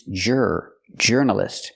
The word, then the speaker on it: journalist: was kind of angry I cannot pronounce the word journalist it's not or journalist like Flor and Moore it's jur journalist we use the r sound like Burger R jur journalist example she's